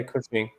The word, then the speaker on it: Cushing: Is that how you pronounce it? Yeah, Cushing.